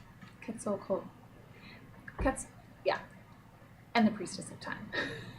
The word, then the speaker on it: Quetzalcoatl: Quetzalcoatl. And the Priestess of Time. This is the image from the American deck, and the image is the same with the Australian deck. Quetzalcoatl.